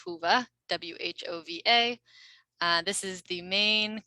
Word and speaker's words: Whova: It looks like Wova, but we pronounce it Whova, W-H-O-V-A.